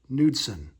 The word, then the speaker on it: Knudson: Andre Dawson, Rene Gonzales, Keith Miller, Derek Bell, Todd Steverson, Frank Viola, Wally Whitehurst, Ert Knudson, the K is silent, Dan Walters, Rick Sutcliffe,